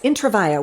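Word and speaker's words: Intravaia: intraa I always wanted to know how to pronounce that intraa yes intravia which is why why his stage name is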